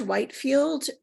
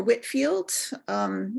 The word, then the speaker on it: Whitefield: We also know that the itinerant British evangelist, George Whitefield, or Whitfield, it's pronounced either way, toured the colonies numerous times between 1739 and 1770, and wherever he traveled, he drew huge crowds.